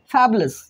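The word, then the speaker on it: fabulous: लगाना नेक्स्ट है हमारा फैबुलस क्या है फैबुलस यू साइलेंट है बच्चों यहां पे फैबलस फैबलस का मतलब क्या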